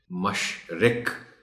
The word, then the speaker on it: مشرق: مشق بھی کروانی ہے۔ مشرق، مرغ رے پر جزم ہے، اس کا خاص خیال رکھا جانا چاہیے۔ عجب، جیم پر تھوڑا